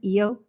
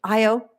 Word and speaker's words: Io: science mom IO and for some reason I I like naturally always pronounce it eio I don't know why but IO um so IO Jupiter's volcanic